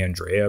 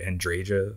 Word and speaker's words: Andreja: It's really weird that her name is, you actually pronounce the J. I feel like it should be Andrea, but they, in-game, they actually say Andreja.